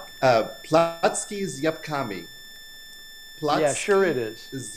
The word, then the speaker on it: Placki z Jabłkami: So how do we pronounce this? So it's apple pancakes, and in Polish it's Placki is Jabłkami.